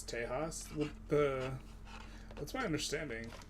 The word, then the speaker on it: Tejas: to generate some infamy Mexican in some cases pronounces uh like J so in my Spanish it's Tejas what the that's my